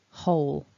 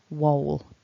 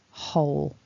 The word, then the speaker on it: whole: what that means is we're dealing with a silent W. So the number one mistake I hear with this word is people pronouncing it wole, but that is not how a native speaker would say it.